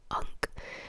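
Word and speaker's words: Unk: His name at least from where I'm starting the reading from is actually called an unc pronounced U N K.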